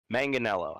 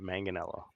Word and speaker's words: Manganiello: Manganiello got his uh manganello I've been saying it wrong this whole time manganello he does that clip